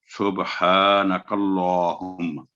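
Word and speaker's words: سُبْحَانَكَ اللّٰهُمَّ: बिहम्दिका, तो ये है सुबहानकल्लाहुम्मा। लामुल जलाला अल्लाह के नाम पर तशदीद और साथ खड़ी जबर है, तो 2 सेकंड आवाज लंबी करके हुम्मा, सुबहानकल्लाहुम्मा।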